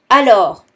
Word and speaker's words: alors: Alors, so here again, the S at the end is silent. Alors.